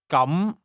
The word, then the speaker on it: 咁: The difference is that the word for in that case is pronounced with a mid-rising tone, while the word for today has a high level tone.